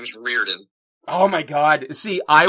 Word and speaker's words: Riordan: I adored everything she did so I completely butchered your name please for the sake of everybody Reardon oh yeah okay got it and be fair